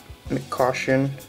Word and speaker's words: McCoshen: our sixth young guns Ian caution that's how you pronounce it of the Florida Panthers Ian mccoshen young guns very nice